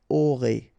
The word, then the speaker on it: aurez: Alright, O, and then EZ at the end will give you this E sound. Aurez.